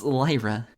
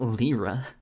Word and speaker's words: Lyra: It's Lyra, not Lyra. I almost snorted, fighting to contain my giggles. It's so silly how you say it. He smiled bashfully and shrugged. The other way sounds rude. Like I'm almost calling you a liar. Well, think about it. It's just like the musical instrument, lyre.